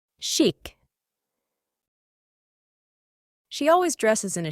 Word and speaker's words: chic: logger at the bar this word originates from French it means sty styish it is pronounced shik shik she always dresses in